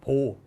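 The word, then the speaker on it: baud: 단위는 바우드라고 읽으면 안 된다 그랬죠. 보호, 사람 이름이니까 보호라고 해야 돼요.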